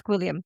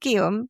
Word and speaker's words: Gwilliam: No, it's not Guillaume, because that's spelled completely French. different. Yeah, This is literally G. William. Oh, wow. The letter Okay.